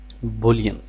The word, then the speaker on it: Boolean: मैक्स की language के अंदर हम इसको बोलेंगे बुलियन। इसकी दो प्रोनाउंसिएशंस हैं, एक बुलियन है एक बुलियन है।